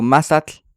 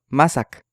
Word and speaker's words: mazatl: O si digo mazatl, dicen mazac.